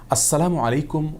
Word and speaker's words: আসসালামু আলাইকুম: উচ্চারণে সালাম দিয়ে বলেছিলেন আসসালামু আলাইকুম যার কারণে আসসালামু আলাইকুম ওয়ারাহমাতুল্লাহি ওয়াবারাকাতুহু এভাবে বিশুদ্ধ উচ্চারণ আমাদেরকে সালাম দিতে হবে তাছাড়া আসসালাম এটি